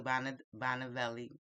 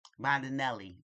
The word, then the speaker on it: Bondinelli: So the guy, his name was Franco, who was like the assistant to Bonavelli. Let's say Bonavelli. Yes. Oh, okay. Bondinelli. That's it. That's a lot of syllables, guys.